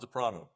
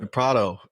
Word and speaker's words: DePrato: Yeah, DePrato. That's right. DePrato.